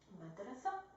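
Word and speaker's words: مدرسة: Like the word madrasa, we just hear the a, but we don't pronounce the ta as a t, madrasat.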